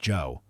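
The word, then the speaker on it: Zhou: He remained resolutely unpersuaded until a significant rival emerged in the person of Jifa of Joe, pronounced Joe.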